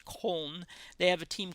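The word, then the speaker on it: Köln: he lived in cold we call it Cologne but it's pronounced home they have a team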